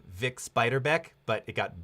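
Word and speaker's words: Bix Beiderbecke: and here here he gets the this proper name wrong here I think it was big spider bit coming on it's it's Vic spider back but it got Bix biter Beck it's very specific naming but not not bad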